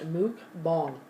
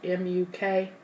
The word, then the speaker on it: mukbang: I looked it up and it's pronounced mukbang. Even though it's spelled M-U-K-B-A-N-G, it's mukbang.